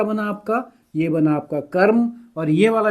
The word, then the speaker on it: क्रम: एक में मैंने करा है कर्म क्रम र बहुत थोड़ी मात्रा के लिए क्योंकि अधूरा है। इसमें क्या है? क्रम क छोटा है रम बड़ा है।